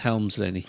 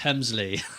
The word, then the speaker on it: Helmsley: love how Pat Patterson he's trying to pronounce Hunter Hurst Helmsley Helmsley and he says Hunter Hurst Hemsley did you notice that